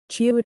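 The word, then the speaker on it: 치읓: Chiut is pronounced by lightly touching the tip of the tongue to the hard palate when saying jiut, then quickly releasing it to force a large amount of air out. The letter name is chiut. It is a strong sound pronounced loudly and forcefully by pressing the tongue against the hard palate. It is the same initial sound produced when pronouncing cha.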